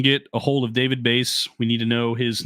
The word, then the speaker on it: Bayse: We're looking for David Bays.